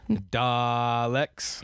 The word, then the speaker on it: Dalek: Ah, okay, so it's like a textbook, basically, about yes, the Daleks. It was... Oh, I'm sorry, I said it wrong. Daleks. You have to say it right.